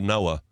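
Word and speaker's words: NOAA: love the fact that the American version of Nea is called Noah if you've got a weather organization called Noah you'll be predicting rain most of the time I imagine I know it's spelled differently good point I know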